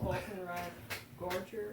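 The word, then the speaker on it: Falkenrath Gorger: Volkenrad Gorger, I think it's pronounced. Yeah, you got it right.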